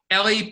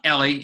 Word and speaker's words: Eli: Ellie Pariser is the name of the person giving the TED Talk. Ellie, and his first name is spelled E-L-I.